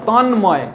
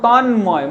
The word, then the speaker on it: তন্ময়: কীরকম দেখো যুগ্ম, দেখো যুগ্ম, গয়ের উচ্চারণ হচ্ছে, ময়েরও উচ্চারণ হচ্ছে, গুল্ম ল এবং ম দুটোরই উচ্চারণ হচ্ছে, এবং তন্ময়, দেখো তন্ময়, ময়ের পরিষ্কার উচ্চারণ হচ্ছে।